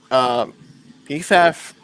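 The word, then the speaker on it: Pfaff: GTD class, the number 9 PFAF Porsche, that's how you pronounce it, passes the number 86.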